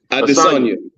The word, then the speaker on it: Adesanya: Adesanya.